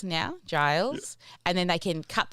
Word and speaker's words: Giles: And I want to apologize for saying your name wrong. I did say it wrong before. So what I'll do is I'll say Giles now, Giles, and then they can cut that out in